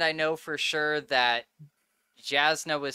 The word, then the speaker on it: Jasnah: So that people don't come at you, it is definitely Jasnah. I said Jasnah all the time, but it's Jasnah from Brandon Sanderson.